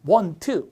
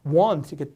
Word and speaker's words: want: 트라고 우리가 외웠죠 예전에는 원트 원하다 원트 원하다 이렇게 외웠죠 사실은 원트가 아니라 n 다음에 t 발음이 약해서 want이 이렇게 발음 하셔야 되거든요 그 원트가 아니라 어